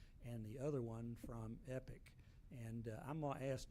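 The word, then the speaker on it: EQIP: monitoring services through a company called EPIC, E-Q-I-P, EPIC is the way it's pronounced, to give you credit monitoring services and other services for a 10-year period absolutely free.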